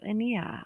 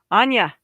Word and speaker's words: Anya: All right, so Ania, Ania, see, there I am again. Anya. Anya is the correct way to say that.